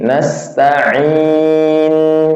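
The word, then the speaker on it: نستعين: ya enggak boleh jadi perbedaan hamzah sama ain itu kalau secara ininya pengucapan hampir sama tapi lebih tebal ke ain daripada hamzah Ya, nastain enggak boleh.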